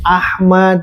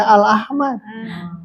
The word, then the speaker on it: Ahmad: Belajar musis bakal tahu yang yang Albukhari, Muslim, Ahmad. Tidak boleh alahmad. Abu Daud, At-Tirmidzi, Annasai, Ibnu Majah. Itu kan yang tujuh masyhur ya. Nah itu teh cara membacanya ya sesuaikan. Kalau ada al, al, kalau tidak. Ini riwayat Albukhari.